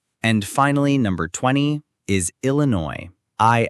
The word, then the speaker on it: Illinois: And finally, number 20 is Illinois. I L L I N O I S Illinois. The IPA is Illinois in the US or Illinois in the UK. That final S is completely silent.